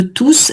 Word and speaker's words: tous: Donc ici, tous est bien pronom. Quand tous est pronom, on prononce toujours le S.